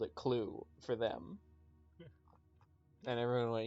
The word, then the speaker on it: Clue: Oh shit, are we playing Cluedo?